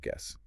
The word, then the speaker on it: guess: The U is just there to keep the G hard.